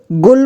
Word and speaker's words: गुल: देखिए छोटा ऊ है, तो इसका उच्चारण कम समय करने का प्रयास करेंगे, यानी कि इसे गुल पढ़ेंगे, गुल।